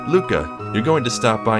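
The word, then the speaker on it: Lucca: It's not Lucha or Luca, it's Luca. Because in the Japanese version, her name only has one C. So it'd actually be pronounced more like Ruka. But here in the States, we're just gonna say Luca. Because they intended for it to be an L.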